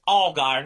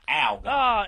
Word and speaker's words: Allgaier: And Kimmy, baby, it's Allgaier, not Allgaier. Everybody with this Allgaier. I need them all to really. Okay, if it was spelled with just one L, then yes, it would be Allgaier. But because it starts A-L-L, how do you say the word A-L-L? Oh, that's right. All of us say all.